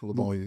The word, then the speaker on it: Livonia: Is that how you pronounce it? Yeah, Livonia.